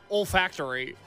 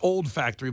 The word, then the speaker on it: olfactory: Because I thought you were saying olfactory. It's olfactory, so it's O-L and then factory. But it's all one word? Yeah, so it's not old factory, but I always like the old factory upstairs.